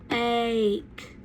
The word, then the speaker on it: ache: So whenever you have a word and it has that A that says its name, like ache, then you're going to have an E that is silent at the end.